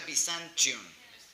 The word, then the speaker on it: Byzantium: Pero en inglés se pronuncia Byzantium.